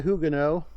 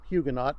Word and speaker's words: Huguenot: matthew fontaine maori virginia hugino or huguenot depending on your american or french pronunciation born in 1806 died